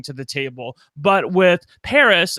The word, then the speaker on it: Paris: But with Paris, and that is how you pronounce her name, correct? It's just like it's basically like the city in France.